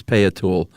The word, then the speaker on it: Peyotl: Okay, but the word they used was Peyotl, P-E-Y-O-T-L, Peyotl.